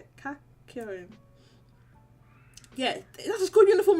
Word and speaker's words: Kakyoin: Kakyoin.